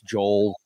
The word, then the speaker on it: Joel: It's Joel, like Noel, or some people say Noel.